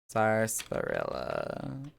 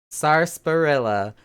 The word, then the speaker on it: sarsaparilla: said it for me sarsaparilla the r is there yeah it's there sarsaparilla so that first syllable actually has the s on the end of it sars spirit oh yeah